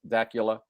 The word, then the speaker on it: Dacula: Greg from Dacula, Georgia. Or is it Dula? Have we decided? I don't I think he said it's not Dracula, it's Dacula. It's Dula. Okay. But it rhymes with Dul with Yeah, whatever that is.